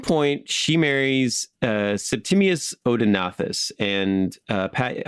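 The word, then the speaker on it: Odaenathus: odenathus and uh Pat I've heard you refer to him as Odin not instead of odenathus yeah odonus is the Greek SL Latin version of his name and his name in Syrian which is itself a member of the Semitic language family would have been something like OD not so you can call him Odin you can call him odinos you can call him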